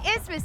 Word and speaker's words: isthmus: do you remember the trivia question can you pronounce the question what is an ismos an isthmus is a narrow piece of land that joins